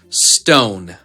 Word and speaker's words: stone: And we have the silent letter E, which jumps over the letter N to make the O say its name. Stone.